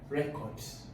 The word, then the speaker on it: record: Records. So for record, the stress will be where? In the first syllable.